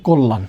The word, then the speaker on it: কল্যাণ: কয়ের পরের বর্ণে জফালা আছে, তাহলে জফালা থাকার মানে কি? এখানে আদ্য অয়ের নিয়ম অনুযায়ী ওকার হবে, দিলাম ওকার। আছে ল, দিলাম ল। এখন লয়ের সাথে জফালা আছে না, এই যে লয়ের সাথে জফালা থাকার কারণে উচ্চারণ কী হবে? উচ্চারণটা দিতে হবে, তাহলে কোল। এরপর হচ্ছে লয়ের সাথে আকার আছে, দিলাম লয়ের আকার। আছে মূর্ধন্য, এর জন্য হয়ে যাবে দন্তন্য, এই হচ্ছে কল্যাণ।